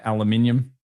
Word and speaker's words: aluminium: Aluminium depends on where you are in the world and you spell it differently. Down under we call it aluminium, but now I call it aluminum. Guys, I've learned the new word.